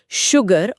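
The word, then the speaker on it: sugar: लेकिन शुगर और श्योर इन दोनों ही शब्दों में एस के ठीक बाद कोई एच है ही नहीं। फिर भी इन्हें शुगर या श्योर नहीं पढ़ा जाता। बल्कि भारी आवाज के साथ शुगर और श्योर उच्चारण किया जाता है।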